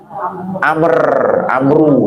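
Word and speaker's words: عمرو: Kalau ain mim ro wawu Amru gitu ya, Amru bin As.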